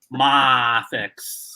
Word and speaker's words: MAFEX: Uh well, I guess positive because he was teaching everyone that it's pronounced mafex.